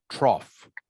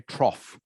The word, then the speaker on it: trough: uh Tom trough correct trough like almost like the word is spelled remind rhymes with off okay trough rhymes with off all right a trough